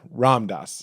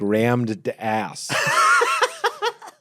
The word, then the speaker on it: Ram Dass: I think I'm saying that wrong. You are. How do you say it properly? Ram Dass. Ram Dass. Okay. Yeah, you got both wrong. You said it like rammed ass, which is a funny